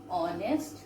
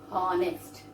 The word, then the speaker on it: honest: But what is the pronunciation here? H is silent. H is silent. So we are pronouncing here an honest boy. We don't say honest.